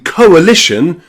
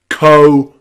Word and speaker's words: coalition: In coalition, co is one syllable, uh is the next syllable. Okay. So, it's not O and A together. It's coalition.